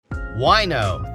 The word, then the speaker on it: Wineaux: Wino, that's spelled Wineaux, is the latest rage for wine lovers and the vino curious around the valley.